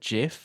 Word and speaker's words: GIF: so yeah but the inventor of the gif pronounces it jiff yeah so who knows yeah exactly the creator